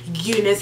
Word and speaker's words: Unice: this hair is from Unis hair I think I'm pronouncing it right Unice or Unice I think it's Unice hair um it is amazing